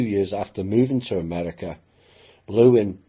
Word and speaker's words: Lewin: And a few years after moving to America, Lewin began asking people to pronounce his name as Lewin rather than Levine, because the misspelling, it